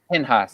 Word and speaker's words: Pinchas: To Phineas, who Pinchas, also gets jealous. yes. Pinhas, Yes.